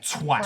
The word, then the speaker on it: twat: Twat. Twat rhymes with cat.